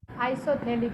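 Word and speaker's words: isophthalic: आइसोथेलिक acid. हाँ, आइसोथैलिक acid. TH again silent है बेटा यहाँ पर।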